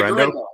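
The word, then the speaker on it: Guerendo: How do you pronounce the gentleman's last name? Garendo? Yeah, Garendo. Yeah, okay.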